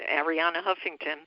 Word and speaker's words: Arianna Huffington: Am I sometimes I mispronounce her name. No, you're right. Ariana Huffington.